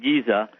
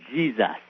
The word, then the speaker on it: Giza: the great pyramid of giza which uh which e wallace budge the curator for the british museum said should be pronounced not giza but jesus oh really yeah we